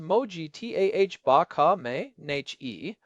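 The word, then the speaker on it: Mojtaba: When Mojaba Kam pronounced Moji T ah baka n was named successor on March 8th, the talking heads were all saying it was a seamless transition of power.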